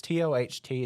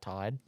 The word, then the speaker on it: Toht: It's Toht is his last name. I've heard it. I've looked online. It says it's pronounced like Todd.